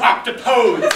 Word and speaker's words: octopodes: it in ode to octopus now as to the question of pronunciation I'll just say that the word rhymes with Socrates but for poetic purposes